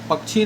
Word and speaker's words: पक्षी: पंछी नहीं बोलकर पंखी पंछी नहीं बोल के पक्षी नहीं बोलते हैं बल्कि पंछी बोल देते हैं।